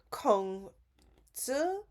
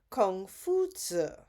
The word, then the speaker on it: Confucius: Now, the West call him Confucius, but in the original Chinese, his name is pronounced Kong Zi or Kung Fu Zi.